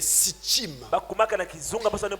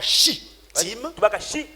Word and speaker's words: Sittim: Ils partent et ils arrivent avant le Jourdain dans un lieu appelé Sittim. Alors on dit parfois Shittim, parfois Sittim, écrit le plus simplement possible, avec 2 fois la lettre T.